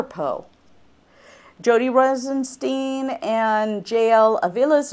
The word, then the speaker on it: Po: but we're going to pronounce it as PO Boxes as in the river Poe jod Rosenstein and JL